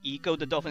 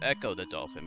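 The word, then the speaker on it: Ecco the Dolphin: A lot of people pronounce it Eco the Dolphin. It's not Eco the Dolphin, it's Echo the Dolphin, because it's a pun on echolocation.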